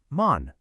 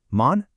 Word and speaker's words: 門: Now listen closely to the Japanese Onyomi. It's mon. Hear that? Mun, mon. It's almost identical.